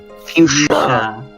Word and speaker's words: fuchsia: Yushu? Fuchsia. It's the only way to pronounce it.